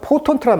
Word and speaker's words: potent: 그러니까 뭘 불구로 만들었냐면 The leadership of Iran to most potent allied militia. 자, 포턴트란 말, 오우 발음입니다.